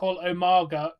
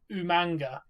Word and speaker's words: Umaga: William Regal used to call Umaga Umanga. Umanga. Umanga, didn't he? He used to call him Umanga. With the N for some reason. reason. Yeah, it was fucking amazing. I was like, where did you get the N from? Umanga! Dude, he's not manga.